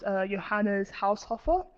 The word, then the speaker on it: Johannes Haushofer: frequently is by, I think his name is pronounced Johannes Haushofer.